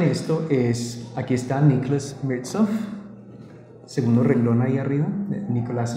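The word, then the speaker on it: Mirzoeff: Y el otro autor que es clave en esto es, aquí está Nicholas Mirtzoff, segundo renglón ahí arriba, Nicholas Mirtzoff, se pronuncia, lo pronuncia él.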